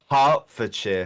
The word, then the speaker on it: Hertfordshire: Hertfordshire.